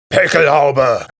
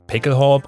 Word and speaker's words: Pickelhaube: as a licensed German, I can pronounce this word accurately and authentically. It's Pickelhaube! Sorry, that happens sometimes. I don't know why. I often hear people say something like Pickelhaube or something like that, but no, the word actually ends